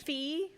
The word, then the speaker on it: Fee: Well, my name is Fee. Fee? Say again, please. Fee, like F-E-E.